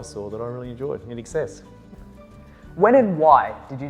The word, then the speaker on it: INXS: So that was one of the first bands that I saw that I really enjoyed, in excess.